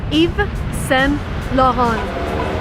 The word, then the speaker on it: Yves Saint Laurent: And again, if you want to be correct, you want to read it in a French manner. So it's Yves Saint Laurent.